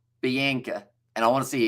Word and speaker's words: Bianca: And no, it's the English pronunciation, definitely not the Afrikaans one. So it's Bianca. I'm just going to say that one, Bianca.